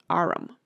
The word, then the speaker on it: arm: window sure it's an arum your honor he pronounced it arum and arm you goose who ever saw one